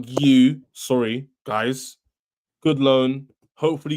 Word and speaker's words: Guiu: How do you say Mark? I said Mark Gooey, didn't I? Mark Goo. Yeah. Yeah. Mark Gu.